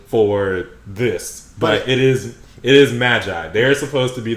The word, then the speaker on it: Magi: magi because they i i know they don't pronounce it right but i call it maggie specifically because that's how they call it in